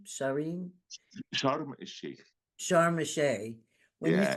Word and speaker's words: Sharm el-Sheikh: Sharim? Sharim? Sharm el Sheikh, Sharm el-Sheikh.